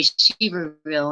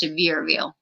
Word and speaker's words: Sevierville: I always say Seaverville, and I think it's Sevierville. I think William taught me I was saying it wrong.